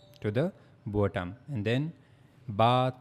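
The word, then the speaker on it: ب: that for pronouncing Ba, we have to use the inner sides of our both lips. Okay. We have to connect the inner side of our lips, and that's how we have to pronounce Ba.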